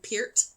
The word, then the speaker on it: Peart: I think that's the way you're supposed to pronounce his name, Peart.